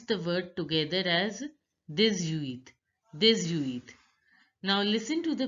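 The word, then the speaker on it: dix-huit: X becomes Z and H is not pronounced. And you have to pronounce the word together as 18.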